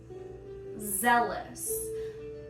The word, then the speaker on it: Zealous: Zealous. Think of the word jealous, but you've had a little bit too much wine.